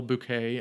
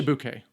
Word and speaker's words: Bouquet: Uh Molina Havlock played by Carol Bouet. I apologize if that's not the pron correct pronunciation. I just know that the French don't do their te. We'll say bouquet.